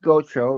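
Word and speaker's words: Gatreau: Oh, mine it's under my name Goro. No, G A T R E AU but pronounced Goro. Rhymes with GoPro.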